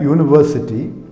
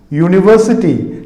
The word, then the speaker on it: university: You see, U, when you say U, it is actually Y-U, U. University, not university, it is university.